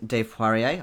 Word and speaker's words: Poirier: Russell Higgins, Jolly Mangina, Mark Threlfall, Ormber, Brandon Fishwick, Dave Poirier, I said it right this week, AJ, Fuke Enterprises, Nate Hanshin, Philip Bate, and Elizabeth Chai Praditcool.